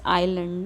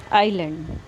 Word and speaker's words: island: इसको आप island नहीं पढ़ेंगे, ये है इसका pronunciation क्या है, island. ना ऐसी साइलेंट हियर, कुछ ऐसे वर्ड्स होते हैं जिनमें कि कोई लेटर साइलेंट होता है, तो इसको हम क्या रीड करेंगे, आइलैंड.